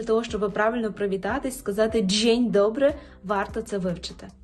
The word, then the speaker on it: dzień: рази вимова стане краща шостий секрет це є буквосполучення д з і е яке читається як Дж Дж Дже тут відбуваються такі впливи що там насправді всю кашу заварює нам буква і і впливає на дз і робить нам Дж а і сполучається з е і ви знаєте що воно читається як є Відповідно ми отримуємо звук Дж Дже Ну і наприклад в такому слові як джень дженьдо джень добри так Добрий ранок або Добрий